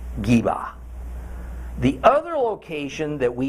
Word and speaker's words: Gibeah: In this case, what we in English say as Gibeah is actually more pronounced something like Geba. Geba.